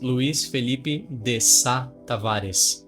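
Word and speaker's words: Luís Felipe de Tavares: That's how they say it. Like in Brazil, the way you say it is Luis Felipe de Tavares.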